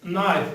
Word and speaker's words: knife: It's not knife, it's knife. We say that the K is silent. We do not pronounce it.